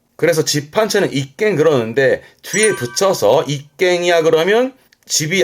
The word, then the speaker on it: 一軒: 전차의 공격을 방패로 막듯 비바람 막아주는 집을 말하는데 이 집헌자는 주로 쓰게 되는 게 일헌이라고 발음은 이깽 그럽니다. 음은 깽이에요. 이깽.